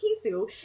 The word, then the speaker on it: Chisu: Pronounced Kisu, is a Finnish pop artist, songwriter, and producer.